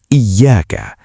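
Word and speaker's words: إِيَّاكَ: Pada ayat iyyaka na'budu wa iyyaka nasta'in, huruf ya memiliki penekanan tasydid. Cara membacanya harus ditekan iyyaka. Jika dibaca cepat tanpa tasydid menjadi iya na'budu.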